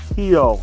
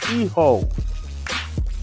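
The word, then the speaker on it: hijo: mic, need to understand it's not pronounced hio. It's eho, you know, in e-ho meaning son.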